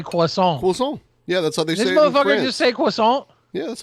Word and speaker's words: croissant: Anyway, bacon, egg, and cheese croissant.